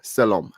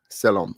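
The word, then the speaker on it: Selorm: you thank you but no you spelled the name wrong my name is s-e-l-o-r-m salom salam salam all right criminy that's a funny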